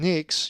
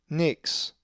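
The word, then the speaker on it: νύξ: If you said nix, you are correct, for the accent is over the epsilon, nix.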